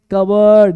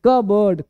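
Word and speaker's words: cupboard: कप बोर्ड लेकिन कप बोर्ड नहीं पढ़ेंगे पढ़ेंगे कवर्ड लिखा है ना कवर्ड अलमारी कवर्ड कवर्ड कबर्ड कबर्ड लिखा है कप बोर्ड पढ़ेंगे कवर्ड कवर्ड कवर्ड अगला पॉइंट देखो तो पी क्या हो गया साइलेंट ठीक है बाबू बोर्ड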